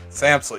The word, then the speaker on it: Samsel: Are we pronouncing that right, Jackson? Samsel.